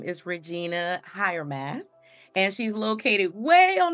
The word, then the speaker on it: Regina Hiremath: And you guys, the pronunciation of her full name is Regina Hiremath.